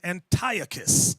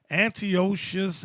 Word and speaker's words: Antiochus: talking about Antiochus epiphanies some people pronounce his name Antiochus I've seen that on the Discovery Channel Antiochus and Antiochus tomato tomato same devil one more time yay